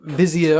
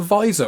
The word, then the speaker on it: vizier: You couldn't be the Sultan's vizier and be calling yourself a visor or a vizier.